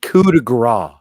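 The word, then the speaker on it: coup de grâce: it what it is it's pronounced coup de gras I don't watch it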